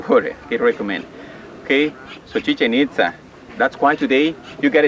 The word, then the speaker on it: Chichen Itza: hear something about that chichen-itza here's something like that chichen-itza this is the right way to say chichen-itza no chicken Itza or chicken pizza like some people say no that is Chichen Itza okay Chichen Itza it's